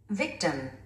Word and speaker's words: victim: Victim.